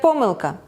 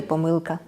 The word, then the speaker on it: помилка: на перескладання між іншим у слова що означає неправильність неточність подвійне наголос можна казати Як помилка так і помилка так Добрий день і